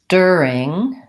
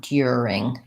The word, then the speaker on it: during: have a follow-up on the word during is a pronunciation of the first syllable with the air a bit like the initial syllable in pure a pure it is except that in pure a I have a sound here so it's kind of like Pia Pia pure your versus during you don't want you don't want Dearing that would be more a British style so pure a in